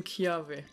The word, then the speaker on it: Kiawe: so we're here for a trial I am kiawe that's nice that's how I pronounce it my Merrill record is our students